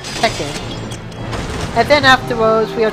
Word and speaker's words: Tekken: the first five Tekken I know usually pronounce it taken but my friend might need to do it at Tekken and then afterwards we